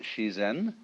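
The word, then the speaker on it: 自然: Daoism, or the Japanese pronounce it shizen, is roughly when they point to all the things happening around us, that's ziran.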